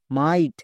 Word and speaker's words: might: এর জন্য উচ্চারণ হয় IGHT। তাহলে এবার পুরোটার উচ্চারণ করো, MIGHT, মাইট। বোঝা গেল?